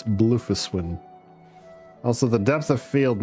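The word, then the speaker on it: Bloefhiswyn: I know it looks like mostly uh consonants, but it's blofus when also the depth of field needs to kick in and off cuz holy hell things look blurriier than they should be.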